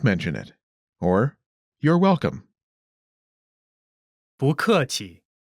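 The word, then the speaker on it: 不客气: Pronunciation note: when 不 is followed by a fourth tone, its tone changes from the fourth tone to the second tone. Listen to the pronunciation again. 不客气 Next is 客气 courteous.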